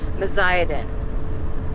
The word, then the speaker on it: Meziadin: It's the bear campground, but we never figured out how to pronounce that, and I finally looked it up. Meziadin.